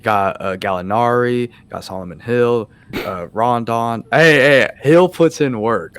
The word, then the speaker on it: Rondo: Rodon, how do you say it, hasn't been doing that much. Rondo. Rondo, yeah, I'm just butchering his Gotcha.